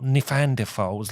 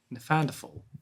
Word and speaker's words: Neanderthal: We normally go to the office and have a poo in the toilet like normal people, not Neanderthals like you.